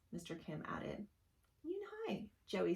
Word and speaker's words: Yoonhae: Yes, it's pronounced Yoonhae, and it means grace, Mr. Kim added. Yoonhae, Joey said slowly, and this time perfectly.